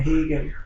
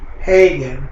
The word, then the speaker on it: Higgins: Actually, I was a member of the NAACP, and I remember Ann now when I say Ann Higgins, We didn't pronounce it Ann Hegan. We pronounce it Hagen.